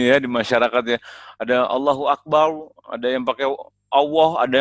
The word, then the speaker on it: Allahu Akbar: Kalau ba-nya tebal kan ba-nya fathah. Berarti kan Allahu Akbar. Nah, ro-nya juga doma, Allahu Akbar.